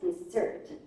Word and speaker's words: dessert: you like to search remember there is double X double s dessert because there is so desert the stress is on the second syllable okay at all when